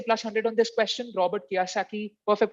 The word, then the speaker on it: Robert Kiyosaki: first bounce uh i'm not sure if i'm pronouncing it right it's robert kiyosaki plus 100 to you you wish you had